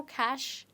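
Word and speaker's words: cache: you say this there's one more letter here which is silent and that is e okay now see how it's pronounced you know cash in terms of money right so those money or dollar bills they're called cash but here this is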